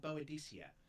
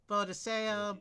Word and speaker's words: Boadicea: I've seen it pronounced a whole bunch of ways. Boadicea, Boadicea, Boadicea. I mean, pronounce it however you want. Boadiceo. The Latin teacher in my high school called her Boadicea. And she's from... It looks like it should be like an Italian pronunciation.